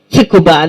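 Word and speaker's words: Tsukuba: in Japan I went to the University of tukuba it's called TS so tuuba that's how you pronounce it and I speak some Japanese anybody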